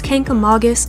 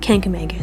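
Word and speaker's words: Kancamagus: We had no idea it was pronounced this way, but it's Kangamangas apparently, and not Kangamangas, so a little disclaimer there, sorry. So I didn't know this. It turns out Kangamangas was a person, and his name means the fearless one.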